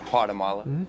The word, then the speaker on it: Guatemala: Guatemala. You don't pronounce the G, Thomas.